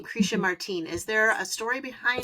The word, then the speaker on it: Martin: it was always pronounced Martin because it was um it was from, you know, folks who had come over from Mexico and Spanish speakers.